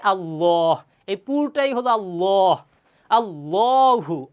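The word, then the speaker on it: الله: তাসদিদ আছে, তাহলে এই আল্লাহ শব্দের দ্বিতীয় লাম এর পূর্বের হরফে যদি জবর অথবা পেশ থাকে, তাহলে আল্লাহ শব্দের লামকে মোটা করে পড়তে হয়, পুর করে পড়তে হয়, তাহলে হয় আল্লাহ।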